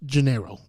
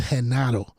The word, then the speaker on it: Genaro: His name in English is pronounced Gennaro, whatever. Yeah, but in Spanish is Genaro.